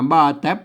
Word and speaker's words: บ่าแต๋บ: ไม้ สั้น นะ ครับ อ่าน ว่า บ้า แป๊บ นะ ครับ อ่า บ้า แต๊บ นะ ครับ แหม่ อัน ตัว